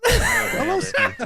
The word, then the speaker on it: Holosky: I was in the video typing it out because we spell it HOLOSKY, and I was like, no, Tony, HOLLOWSKY. Say it as one word, and he goes, Holoski. Holoski. Polish.